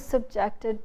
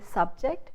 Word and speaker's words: subject: you say, I was subjected to a lot of mental abuse. So the stress shifts from the first syllable to the second syllable, which is ject. You don't say subject, you say subject.